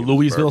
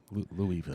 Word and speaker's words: Louisville: where are we the louiseville slugger the bat comes from that louisville you gotta leave the s the s is silent louisville come on john there